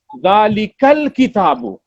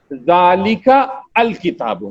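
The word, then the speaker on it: ذٰلِكَ الْكِتَابُ: Hamza will drop and it will ask the Ka sound to come and meet the Lam sound. Zalikal kitabu. Zalikal kitabu. It will not pronounce it as Zalika al kitabu.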